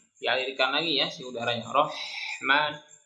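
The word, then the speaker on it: الرَّحْمٰنِ: Rahman, jangan Rahman, jangan kasih jeda. Rohmani, mani. Kalau diayun saja supaya tidak terlalu panjang.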